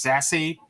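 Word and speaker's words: SASE: Next, we've got Secure Access Service Edge, pronounced Sassy, because why not?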